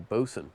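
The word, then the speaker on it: boatswain: Bosen, I believe, is how this is pronounced despite it being spelled Boat Swain.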